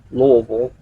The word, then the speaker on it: Louisville: It went from Louisville, which is how we locals pronounce it.